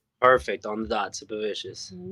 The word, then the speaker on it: Sipavicius: Shout out to Queens Super Vicious.